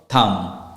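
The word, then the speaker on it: thumb: the same thing with your Thum we never say tum B will not be pronounced because that's a silent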